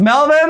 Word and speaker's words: Melvin: a canon don't try your name's melvin i like that name it rhymes with pelvin you just don't engage